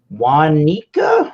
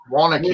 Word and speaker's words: Waunakee: This one is done at a facility they have in Wanika. I don't even know how to pronounce that. In Wisconsin. So. Waunakee. That sounds more like it.